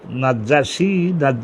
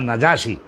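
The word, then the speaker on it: النجاشي: যদি জিজ্ঞাসা করে যে নাজ্জাশি নাজ্জাশি না নাজাসী জিমের উচ্চারণ একবার হবে নাজাসী নাজাসী তা নাজাশির আসল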